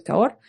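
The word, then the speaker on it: Cahors: caor es muy diferente se escribe caor pero es caor este son muy diferentes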